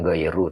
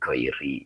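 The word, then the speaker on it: غيرِ: oke oke ya Heeh jadi ini dibacanya bukan ghairu tetapi Giri ya bya huruf Jar uyubi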